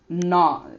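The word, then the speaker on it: gnaw: r or l e d and we have no just g n a w no and then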